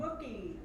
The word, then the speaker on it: Mookie: It rhymes with cookie, but it starts with an M. Mookie.